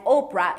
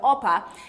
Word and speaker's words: Orpah: means gazelle and she her family was struggling pronouncing the name correctly so when she was one when oprah looked this up i'm not telling you a word of a lie when oprah was one because everybody was um mispronouncing it as oprah instead of oppa they just changed it